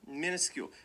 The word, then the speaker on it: minuscule: first syllable minuscule minuscule so this is sort of like a schwa sound but but it it when I say it and when I hear other people say it it sounds a lot more like an eye minuscule but it's it's a u I would not you